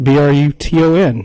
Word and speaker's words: Bruton: I'm here with Bruton, right? Bruton. You got it. I can pronounce it correctly.